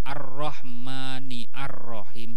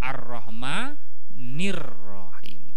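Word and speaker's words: الرحمن الرحيم: Contoh yang paling jelas, Ar-Rahmanir-Rahim. Sama-sama tulisannya Ar-Rahman, Ar-Rahim. Tapi bacanya bukan Ar-Rahmani, Ar-Rahim, bukan kan? Tapi Ar-Rahmanir, langsung kan?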